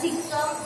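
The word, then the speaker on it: caecum: ये जो फर्स्ट है इसकी स्पेलिंग जो आपको दिख रही है, इसमें क्या होता है, ए साइलेंट होता है, इसको क्या बोला जाता है, सीकम, कॉलन और रेक्टम।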